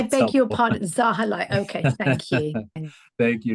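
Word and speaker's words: Zahilay: And I'm going to put it to Councilmember Zahili first to answer that. Thank you, Rita. And it's pronounced Zahalai, in case I that's beg your helpful. pardon, Zahalai.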